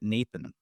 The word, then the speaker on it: n8n: Lindy like and the Lindy folks called it Nathan and I was like what's Nathan and they're